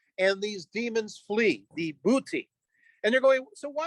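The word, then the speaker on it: Buiti: was attacked by those known as the booty uh we can we can phonetically spell b-u-i-t-i uh these are the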